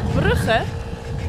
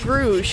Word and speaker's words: Brugge: We are going to Gent and Brugge, or Gent and Bruges is how some people, I guess, would pronounce it.